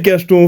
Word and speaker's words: Cachton: Et pas Cacheton pour ceux qui pensent que c'est Cacheton, non. C'est Cacheton, faut bien prononcer. Il faut penser à un petit cachet au cas où.